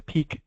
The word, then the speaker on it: PEEC: One of the pivots required to meet the goals of NGSS that comes from peak alignment, which was also developed by Achieve, and you're welcome to grab a copy of that.